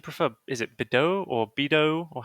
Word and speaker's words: Bedeau: Is it Bedeau or Bido, or how do you say it? It doesn't matter. It's supposed to be Bidu. but it doesn't matter.